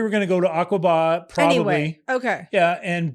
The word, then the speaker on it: Aqaba: Aqaba?